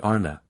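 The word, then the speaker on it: Ana: individual inclination chapter 10 the word Anna pronounced broadly ARA corresponds with our plural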